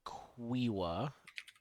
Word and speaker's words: Quiwa: I think my character's name is Quiwa, is how it's pronounced.